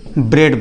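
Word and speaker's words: bread: आर इ ए डी इसको हम क्या बोलेंगे ब्रेड बोलेंगे राइट फिर हमने लिखा डेड हो गया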